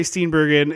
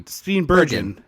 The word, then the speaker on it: Steenburgen: house where poor Mary Steenburgen is like, I keep saying it wrong. It's G, hard G. Poor Mary Hard G. Steenburgen. That's a hard G. Oh, it is Bergen.